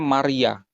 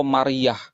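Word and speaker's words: ܡܪܝܐ: Jadi Yod He Waw itu ditulis MRYA. Bacanya Maria atau Mariah.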